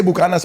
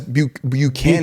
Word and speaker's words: Buchanan's: Con And that's not, we say Bucanas, but it's not actually pronounced like that. It's Buchanan. Buchanan's.